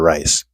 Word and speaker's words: Rys: His name is Vladimir Rice. Hopefully, I pronounced his last name correctly, as it is spelled RYS.